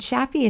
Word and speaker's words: Shafie: Sheeta is spelled Shideh, and Shaffi is spelled Shafie.